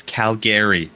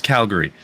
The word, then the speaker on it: Calgary: go anywhere outside of where we're from it's Calgary no it's Calgary there's no you don't pronounce it like that I swear so I